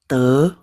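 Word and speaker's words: 得: Nah, bacanya te. Ini poinzi ya. Bisa dibaca te, dibaca jadi tei. Kadang bisa dibaca jadi tei ya.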